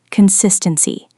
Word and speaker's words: consistency: Consistency. Stress on the second syllable.